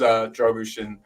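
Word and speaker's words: Drăgușin: And then David Shear saying that my mom's spot on with the pronunciation, so I think it is Dragushin.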